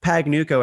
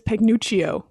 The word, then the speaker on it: Pagnucco: last name like I I would say the most common pronunciation of my last name is paguio I get the two C's makes a cha for some Italian names but the eye I